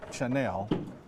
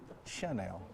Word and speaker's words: Chanel: Elizabeth Burus at the same time told me that I was saying Chanel and it's supposed to be Chanel.